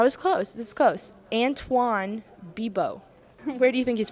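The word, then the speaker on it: Antoine Bibeau: Anthony Bibio. That was close. This is close. Antoine Bibo.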